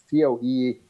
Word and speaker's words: coelacanth: It's spelled like coelacanth, C-O-E-L-A-C-A-N-T-H. They pronounce it coelacanth.